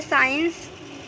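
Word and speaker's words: science: दूसरा है साइंस, तो यहाँ पे भी देखिए एस के बाद सी आया हुआ है, तो यहाँ पर भी एस साइलेंट होगा।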